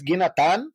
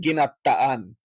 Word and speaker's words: ginataan: So there's ginatan and ginataan, and that means coconut milk has been put in it. And I feel like this is like, my mom says ginatan is how you say the finished product, and other people are telling me no, it's ginataan. Extra emphasis on the second A. I don't know, whatever. Both are acceptable, but that's coconut milk